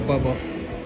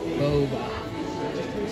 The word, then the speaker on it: Boba: but yeah Ashley love our Bubba our Bubba or Boba oh I'm not pronouncing it right and what is it okay there you go Boba she said it is there we